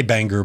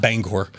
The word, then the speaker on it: Bangor: and you know what that's the right way to say Bangor by the way not Bangor and I know you